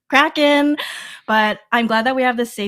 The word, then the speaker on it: Kraken: I don't know how I thought it was Kraken, but I just feel like that's maybe something that I grew up hearing. Maybe it's because my parents said it because they didn't know it was actually pronounced Kraken.